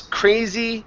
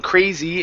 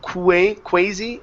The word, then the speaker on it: crazy: Work on that E sound at the end, both in crazy and stories. Okay, as well as the R instead of quasi and stowies.